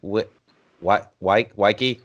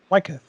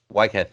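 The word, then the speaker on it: Weikath: In reference to the whole religious aspect, I think at the time, Waike, did I pronounce it right? Sure. Whatever. What is it? Wycliffe. Wycliffe, thank you.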